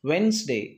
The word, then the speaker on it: Wednesday: wednesday wednesday it is not wednesday we should pronounce wednesday d is absolutely silent next silent g pronunciation